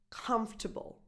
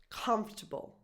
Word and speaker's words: comfortable: This is pronounced comfortable, comfortable. The stress, the accent, is just on the first syllable. Comfortable, comfortable, comfortable.